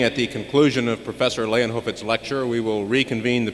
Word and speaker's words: Leijonhufvud: And it's really very simple, Leijonhufvud. You've heard it several times already. It's a Swedish name, a name that quite simply means lion's head.